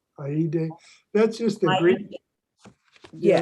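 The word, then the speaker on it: eide: And then to the right of the screen, there was something, and it's spelled E-I-D-E. Right. Aide.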